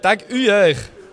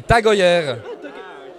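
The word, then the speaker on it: TAG Heuer: si vous le mouvez si vous le voulez en prononciation très mauvaise c'est taguer mais c'est tager qui a son siège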